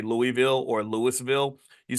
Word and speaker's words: Louisville: Like in Louisville, the joke is that you don't say Louisville or Louisville, you say Louisville. Like you got to kind of like blur the whole word together and kind of Louisville.